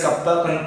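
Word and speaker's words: κ: This K kappa, we pronounce this K as kappa.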